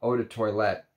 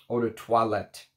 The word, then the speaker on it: eau de toilette: it and he said that I should be pronouncing uh eau de toilette eau de toilette so I'm gonna try to work on my